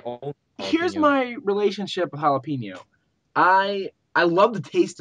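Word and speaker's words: jalapeño: don't like to eat food that's pronounced with a h that's actually starting with a J galapo jalapeno jalapeno jalapeno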